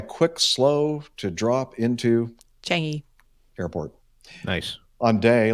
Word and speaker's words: Changi: always get this wrong, Changi? Changi. Changi. No G. Changi. A soft G. Changi. No G. Changi. There's a G there. Just a very. Okay. The G is silent.